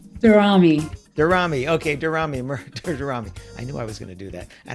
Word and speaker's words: Daramy: Daramy? Oh, I said it wrong. Daramy.